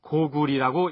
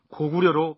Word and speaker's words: 고구려: 일부에서는 구려의 리어를 리로 발음해서 혹은 고구리라고 읽어야 옳다는 주장을 하기도 합니다만 여기에서는 구료 또는 고구려로 발음하도록 하겠습니다.